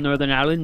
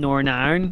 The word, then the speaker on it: Northern Ireland: That's people called Northern Ireland, Northern Iron, because that's how people pronounce it here. Instead of Northern Ireland.